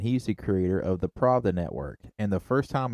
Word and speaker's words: Pravda: so it doesn't have an A right there. I know, but my idiocy wants to add an extra syllable to it.